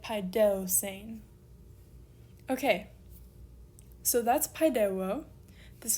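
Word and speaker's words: παιδεύσειν: And so because we have a diphthong on the end here, we move back 1 syllable, we end up on that upsilon for our accent, and we get paideusein.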